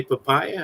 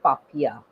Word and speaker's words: Papia: for joining us today papaya how are you doing i'm fine my name is pronounced as papiya papiya sorry i called papaya as a fruit speaking speaking of fruity